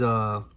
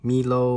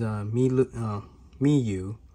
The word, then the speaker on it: Miyoo: I want to go over, this is Miyoo. I guess I've been pronouncing Milo or Mi is Miyoo. I guess Y-O-E. I guess you pronounce it as a U.